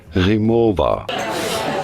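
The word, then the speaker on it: Rimowa: say it Rema Rema how do you pronounce it in German this is said as remova oh man that's awesome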